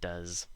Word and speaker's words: does: these dozen and does remember the s in does sounds like a zed and we have a